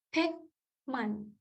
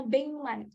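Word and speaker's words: 백만: Hekman. Bacanya Bengman, karena giok ketemu M.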